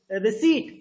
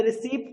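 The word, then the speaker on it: receipt: आर आस्क टू गेट रिसी नॉट रिसीप्ट पी जो है वो साइलेंट लेटर है पी है वो साइलेंट है पेरेंट्स न यू डिपॉजिट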